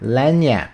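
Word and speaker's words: lagniappe: How do you pronounce that? Lanyap. Okay, lanyap. A small gift given to somebody at time of purchase or an unexpected extra benefit or bonus.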